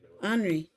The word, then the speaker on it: Anri: now know that that's the only his name andre anri yeah it's i spell it a-n-r-i he's i named my characters after